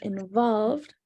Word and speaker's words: involved: Getting involved, we don't actually pronounce the E here, getting involved in the art community can help you meet new, inspiring people and even help you network.